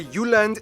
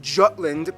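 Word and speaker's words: Jylland: full disclaimer ignore Wikipedia I'm gonna pronounce the location names in their proper Danish context so here we go Denmark is made of the you land not Jutland peninsula that connects to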